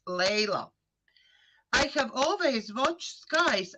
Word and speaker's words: Layla: I so much want to pronounce Laila because in my country it's beautiful name Laila Yes. and it's written the same, but I know it's in English, so it's Layla.